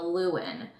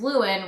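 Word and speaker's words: Llewyn: The next name we had on our list was the name Lewin. It's spelled L-L-E-W-Y-N.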